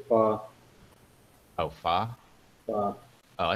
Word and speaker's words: pho: Best bowl of pho I ever had was in the Bronx in New York, 5-6 years ago.